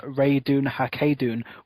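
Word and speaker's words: Ratonhnhaké:ton: Connor because having to refer to him as rayun hun would have been really annoying yeah and that is the pronunciation I've looked it up um cuz I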